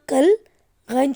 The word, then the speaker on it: کلغی: سے پہلا لفظ ہے کاف لام کل، غین چھوٹی غی، کل غی۔ کیا لفظ ہے یہ؟ کلغی۔ ایک بار پھر سے